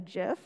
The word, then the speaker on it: GIF: feel incredibly strongly that gif is actually a gif uh pronounced as in within it with a j um and i'm not